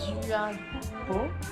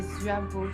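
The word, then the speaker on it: dưa bò: Ça s'écrit Duabo, mais c'est Zuabo. C'est le chou et Bo, c'est le bœuf.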